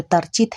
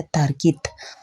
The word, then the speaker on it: Tarchit: चीज़ मुझे पता चला, इस गांव का नाम जो तरचित है यहाँ पे इंग्लिश में लिखा हुआ है वो गलत प्रोनाउंसिएशन है। इसका असली जो नाम यहाँ पे भोटी में मैंने लिखा हुआ देखा वो है तार्कित।